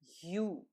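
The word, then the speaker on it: ю: to write it ah this is letter U similar to sound at the beginning of the word use in English you let's see how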